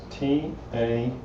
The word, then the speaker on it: taqiyya: It's T-A-Q-I-Y-Y-A. And I think it's pronounced taqiyya.